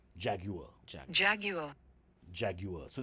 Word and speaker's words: Jaguar: It's not Jaguar, the way Okay. we say it.